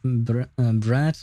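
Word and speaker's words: брат: But I didn't know that brat meant um uh what do you call that? Uh brother in Russian. Let me hear how it's actually pronounced though. Brat. That's how the Google lady says it.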